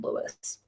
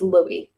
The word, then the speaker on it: Louis: his name is not Louis it's Louie because that is how you pronounce that spelling of that name in not America um Louis is l